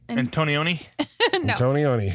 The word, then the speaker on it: Antonioni: sound like a macaroni it's hard to say but it's antonioni antonioni uh do we know antonioni um you might we